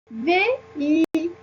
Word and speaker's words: véhicule: Comme vous voyez ici, la lettre H sert parfois à séparer les voyelles. Si on n'avait pas de H ici, on va prononcer véhicule. Donc, ça se prononce véhicule.